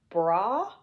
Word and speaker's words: Braille: You know, in French it's pronounced Braille.